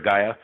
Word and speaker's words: Gaia: second meeting with how do you say that gaya okay yes a Gary Gaia Gaia Gaia yeah the consciousness of Mother Earth